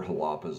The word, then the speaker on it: Xalapa: on jalapa let me just tell you where halapa's at it is between mexico city and veracruz